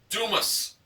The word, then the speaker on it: Dumas: And the cap said, "I'm a ding-dong daddy from Dumas, Texas," but it's pronounced Dumas, Texas.